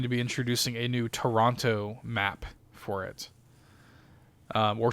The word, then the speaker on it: Toronto: So Push is a new one, and they are going to be introducing a new Toronto map for it. Or Toronto, if you're Canadian. You don't pronounce that second T.